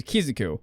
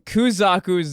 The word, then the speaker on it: Kuzaku: i've been mispronouncing kizak i know i've been mispronouncing kuzaku's name in the entire video i'm sorry i'm dyslexic and i pronounce it kizuku i don't know why